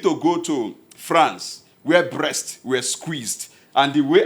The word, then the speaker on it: Brest: See, pronounce the word. Brest. Brest. It's simple. Brest.